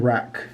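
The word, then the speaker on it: wreck: But the W is silent in rec.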